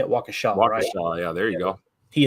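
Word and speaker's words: Waukesha: Wisconsin wakaa is that how you say it wakaa yeah there you go he attended Wisconsin Lutheran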